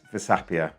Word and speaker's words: Versapia: So, what is Vapia?